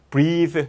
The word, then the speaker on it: breathe: breathe, 발음 다르죠? 그리고 동사예요. 동사. 얘가 없으면 명사가 되고 얘가 있으면 동사가 되고 breathe, 숨을 쉴 겁니다.